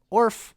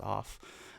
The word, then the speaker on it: Orf: This is the Orf. I like calling it Orf because it sounds funny. It's just a silly word, but the Orf off. I know it's pronounced off.